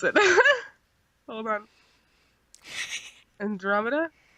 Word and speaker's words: Andromeda: pronounce it hold on Andromeda yeah for some reason I was like Andrew media yeah let me know